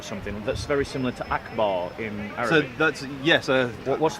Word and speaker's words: Akbar: this one here yeah Akbar and it's pronounced Akbar yep right so every